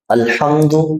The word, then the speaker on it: الحمد: درست ہو جائے گا۔ الحمد للہ، یہ جو لفظ ہے الحمد، ہاں کو آپ نے تھوڑا سا حلق سے نکالنا ہے۔ الحمد اور الحمد یہ